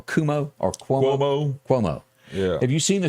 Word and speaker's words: Cuomo: Cuomo.